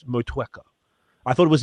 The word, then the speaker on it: Motueka: But it's like you just touch the U a little bit, just dab the U, as opposed to 2-3 times in a row. Motueka.